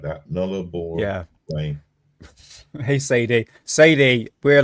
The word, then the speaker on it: Nullarbor: It's pronounced Nullarbor. Nullarbor Plain. Nullarbor. It's no A. It's no A at the end.